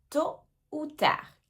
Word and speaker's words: tôt ou tard: Ils ne sont même pas venus à la réunion tôt ou tard. Tôt ou tard. Attention ici aussi aux lettres qu'on ne prononce pas.